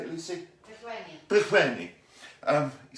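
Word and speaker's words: Pillgwenlly: Pilgwenley.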